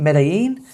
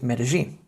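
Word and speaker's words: Medellín: In Argentina, it's a ch. In Spain, as you probably know already, it's a y. But in Colombia, it's a j. So rather than it being Medellin, it is, or should be pronounced as Medellin.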